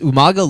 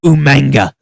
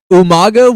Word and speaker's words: Umaga: my favorite things is the way that William Regal pronounced umanga umanga his mispronunciation like Umaga was basically William Regal's